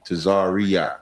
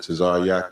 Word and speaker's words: Tazaryach: They usually say Tazaryach. There's no E in my name. It's just Tazaryach.